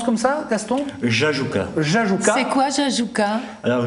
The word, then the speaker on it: Jajouka: Il a sorti un bouquin qui s'appelle Le Retour à Jajouka, on prononce comme ça, Gaston? Jajouka.